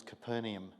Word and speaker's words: Capernaum: The local pronunciation is Capernaum.